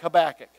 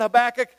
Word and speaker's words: Habakkuk: Did you enjoy the study of an Old Testament book like Habakkuk?